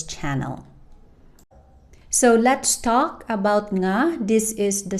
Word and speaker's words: nga: And the sound it represent is the "ng" in "nga", the same "ng" sound you hear from the English words "sing", "bring", and "long". One thing to remember is